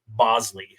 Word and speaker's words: Boushley: Also, I think we should just note that it's kind of funny that it's spelled Boushley and pronounced Bosley.